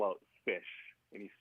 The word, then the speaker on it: ghoti: it would be pronounced fish, but it wouldn't look like. So. Yeah. GHOTI. GH as in tough. O as in I don't remember, and TI as in initial. It spells fish.